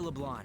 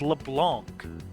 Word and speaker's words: Leblanc: don't we go to Leblon we can talk more over there why are you all mispronouncing it it's LeBlanc there's a c in it yes it's you know